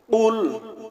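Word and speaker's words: قُلْ: রাজিম বিসমিল্লাহির রাহমানির রাহিম কুল হুয়াল্লাহু আহাদ কুল হুয়াল্লাহু আহাদ কফ লাম পেশ কুল কফ লাম পেশ কুল কফ গলার ভিতর থেকে কফ গলার ভিতর থেকে উচ্চারণ হবে একটা হলো কফ আরেকটা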